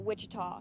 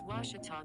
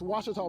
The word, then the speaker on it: Ouachita: university back in texas everybody pronounces it wichita but really it's ouachita washington washington how would you pronounce it it's washita baptist university get it right it's washi tall people it's washita